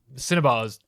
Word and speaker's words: cinnabar: Cinnabars do not. I thought you were saying cinema, and I was going to have to correct you, but you did just say it correctly.